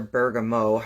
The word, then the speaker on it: bergamot: With self-judgment, I really like bergamot or bergamot, however you pronounce it.